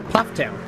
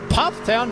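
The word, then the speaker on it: Pfafftown: Pufftown. Pufftown, North Carolina. Looks like the fast is pronounced Puff.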